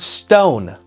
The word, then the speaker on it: stone: Our next word is the word stone. So again, there are 4 sounds for this one. S-T-O-N, stone, with a silent letter at the very end.